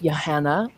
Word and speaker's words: Johanne: Let's start with Johanne, rhymes with banana, or Kesten.